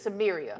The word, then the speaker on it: Samaria: You know, and then if you are family, and then for TAMIR Rice, I mean, TAMIR's mom, it's Samaria. I believe that's how you say her name.